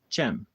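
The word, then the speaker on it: Cem: When I first moved to Tulsa, one of my best friends, uh, his name was Chem. You spell it C E M. He's Turkish.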